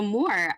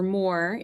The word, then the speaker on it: Mor: So, more uh in Hebrew it's pronounced mo. And so Mo or Moore is the Hebrew for